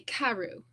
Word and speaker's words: Carew: And I pronounce it Carew. I know some people in England especially say Carew, but I say Carew, but I don't care. However you want to say it, however you like to say it is fine with me.